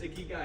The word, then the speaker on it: Ikigai: It's Ikigai. Anybody know what Ikigai means? That part I don't know. Sticky. No. This is where the Japanese comes in. Okay. Ikigai means a reason to.